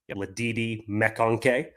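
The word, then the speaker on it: McConkey: I want to point out that that caller pronounced lad mak's name correctly Lei mcon so already already good good swing number one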